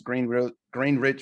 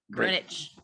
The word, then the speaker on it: Greenwich: Because you said Greenwich. Instead of what? Greenwich. Oh, it's Greenwich. I said it's Greenwich. Spelled the same. Yeah, but it's Greenwich. Greenwich.